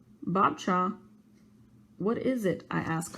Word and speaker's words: Babcia: I always call my grandmother Babisia, which is Polish for grandmother. It's pronounced Babcia. Babcia?